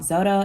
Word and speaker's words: Xodo: your App Store and download an app called zoto it's spelled xodo PDF reader and editor if you